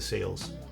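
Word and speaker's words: Sayl: I think if I had to repurchase a chair right this instant, it would probably one of the sales. I think it's pronounced sale.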